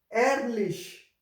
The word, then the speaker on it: ehrlich: This will produce a sound like lich, lich. So first example is A, ha, LE, say, ha, ehrlich, ehrlich, ehrlich.